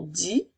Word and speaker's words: dit: l l e ensuite le mot dit de I qui encore une fois s'écrit avec un T muet elle dit je peux